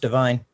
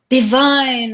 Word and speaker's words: Devine: it's been a while i hate to correct you quickly but it's pronounced divine divine oh my god i